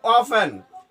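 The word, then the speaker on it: often: হাউ অফেন T silent, how অফেন কত সময় পর।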